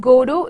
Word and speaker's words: Godot: God it is godo though we have T in the end but it is silent we do not pronounce it so it's good oh that we pronounce it's